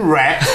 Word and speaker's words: REKT: I guess, although it's spelled REKT, that's primarily because millennials these days can't really spell to save their life. It's probably WRECK, wreck, like destroyed.